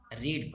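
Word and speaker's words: read: date पढेंगे affair मै रीड बढ़ते हैं बहुत सारे बच्चे और न चेतन में गलती कर जाते हैं इसी लिए मैंने यहां पर स्पेलिंग है रीड लिखी लेकिन यहां पर रेड पढ़ा जाएगा श्री रामायण Vivo डॉक्टर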